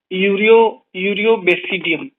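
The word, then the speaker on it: Aureobasidium: अगला देखते हैं ए ए यूरियो बेसिडियम, ठीक है, ये साइलेंट रहेगा।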